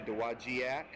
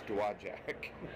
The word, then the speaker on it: Dowagiac: A lot of people look at that word and say Dowagiac. But no, I know from the locals it's Dowagiac.